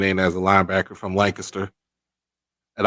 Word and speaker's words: Lancaster: linebacker from Lancaster, and I always got to tell people the way you pronounce this. Most people say Lancaster, California, Lancaster, Pennsylvania. No, here in Texas we say it Lancaster. Lancaster. That's what we call it.